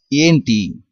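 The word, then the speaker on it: ఏంటి: The actual meaning of what is Amity, but in spoken Telugu, in short form, we pronounce as Enti, and in some contexts we say Emi or Aim.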